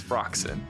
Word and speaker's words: Phroxzon: Remember the X, Phroxzon.